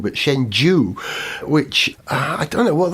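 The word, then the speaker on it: Shenzhou: man launcher is called shenzu shenhu it's actually pronounced not shenhu but shenu which I don't know what that means no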